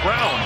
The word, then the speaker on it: Braun: Nick fights for it, can't get it, run down by Christian Brown. It's actually spelled like it's Braun, B-R-A-U-N, yeah. But it's pronounced Brown.